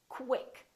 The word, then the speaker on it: quick: you to sayq quq when we have words that are spelled with q u they're pronoun oun as k w so there's a little W sound in here so I want you to say quick pronounce the KW Qui quick don't say cck or kick say quick let's practice some more words